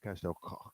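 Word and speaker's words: Castell Coch: It's Castel Koch because it's Welsh, that's how they speak. That's how they pronounce their CHs.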